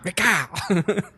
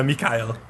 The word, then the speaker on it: Mikhail: McKYLE. Well, I don't have a German accent, so this is the best I can do. It's a Russian name. Mikhail? Yeah, Mikhail.